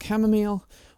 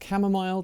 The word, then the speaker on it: chamomile: bit crazy but we've got chamomile or chamomile depending on how you want to pronounce it we have some sweet